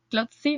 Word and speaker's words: Clotsy: Así que nada, quiero que nos cuentes un poquito sobre quiénes sois vosotros, quién es Clopsy o qué es Clopsy, Clopsy, no sé si lo pronuncio bien.